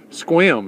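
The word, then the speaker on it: Sequim: was kind of freaky but went to uh sequum s qu i m Squam is the way it's pronounced uh spent the night in a Walmart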